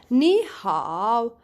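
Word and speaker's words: 你好: you change it guys because you have third tone and third tone immediately comes after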